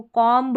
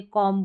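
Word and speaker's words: comb: तो यहां पर हम बी को साइलेंट रखते हैं। बी का उच्चारण नहीं होता। जिसको कॉम्ब नहीं बोलते। कॉम्ब बोलते हैं।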